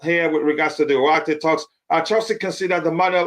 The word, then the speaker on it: Ugarte: It's pronounced Ugarte.